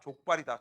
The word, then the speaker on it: 족발: 발음 조심해라. 족발이다. 족밥 아니다.